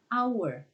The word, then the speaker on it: hour: ini hanya enggak dibaca kita enggak mengatakan hours tapi our hanya enggak dibaca sehingga menjadi disini One